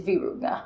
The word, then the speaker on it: Virunga: I trust my Africans. It's Virunga. Siri can't tell me how to pronounce what my Africans pronounce, okay?